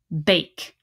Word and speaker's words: bake: i fingerspell this word if i have this silent e and an a i will say ba a k bake now something i want